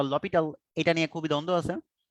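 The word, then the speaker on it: L'Hôpital: আচ্ছা, এল হসপিটাল, বানানটা এল হসপিটাল, বাট এটার প্রোনাউন্সিয়েশনটা হচ্ছে ল পিটাল।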